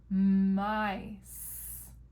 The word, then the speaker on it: mice: Then we have a silent E on the end. Don't worry about that one. It doesn't make any sound. I, mice.